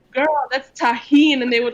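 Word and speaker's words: Tajín: Latinos comments like that's Tajin and they would like put a napkin on it or people will try to spell it phonetically and the next video and she was like guys it's actually touchy and whoa okay go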